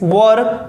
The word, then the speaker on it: were: रहे थे, my friends वर coming yesterday. ठीक है, इसको वेयर नहीं पढ़ेंगे, राइट। प्रोनाउंसिएशन क्या करेंगे? वर।